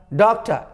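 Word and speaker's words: doctor: लेकिन बोलाएगा समय में, बोलने समय में आपको रॉ को साइलेंट के बराबर कर देना है, नहीं के बराबर कर देना है, नाम मुंह में छोड़ के, ए कुमार, राइट ना। हल्का सा बोलना है आपको, पूरा जोर देकर नहीं।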